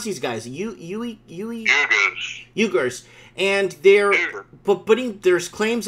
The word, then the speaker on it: Uyghurs: How do you pronounce these guys? Uyghurs.